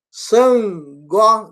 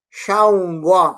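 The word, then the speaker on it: Ṣàngó: Eles estão dizendo San. Sangó não é Xangó.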